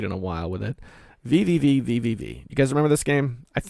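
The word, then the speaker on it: VVVVVV: VVV. You guys remember this game? I think it's just pronounced V.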